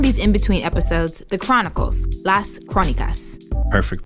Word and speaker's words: Las Crónicas: We're calling these in-between episodes the Chronicles, Las Crónicas. Perfect pronunciation, Lexi.